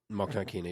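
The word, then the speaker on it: Mokhnatkina: Monknakina, yep.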